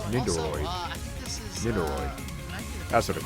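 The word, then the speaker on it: Nendoroid: Nindoroid. That's what they're called. That's Nindroid. Okay, that's how you pronounce it.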